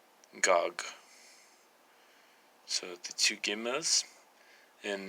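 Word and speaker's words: גג: would actually be pronounced gog. So the two gimels, and the alef is added in phonetically, but not in the written version.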